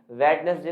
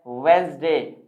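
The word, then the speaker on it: Wednesday: आप बता दीजिए देखिए सही और गलत प्रनंसीएशन आपके सामने है वेडनेसडे नहीं होता वेडनेसडे नहीं होता सही प्रनंसीएशन होता है वीड्स दे क्या होता है दोस्तों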